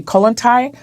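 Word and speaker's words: Kollontai: Colintai.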